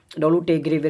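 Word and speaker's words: Dolutegravir: ये एक दवाई है, इसका प्रोनाउंसिएशन आप देखना, डोलूटेगेविर इसका नाम है।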